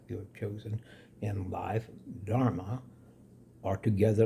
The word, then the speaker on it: dharma: In Sanskrit, our life's purpose is called dharma. D H A R excuse me M A which phonetically and even in spelling pretty much rhymes with karma which is action positive negative or neutral.